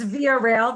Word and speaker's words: Via Rail: rail am i saying it correctly it's it's via rail that's right and we are canada's national railroad